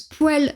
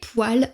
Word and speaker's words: poêle: On peut voir ici que ce mot se prononce poêle dans la région du nord, donc dans ma région natale, et poil dans la région du sud.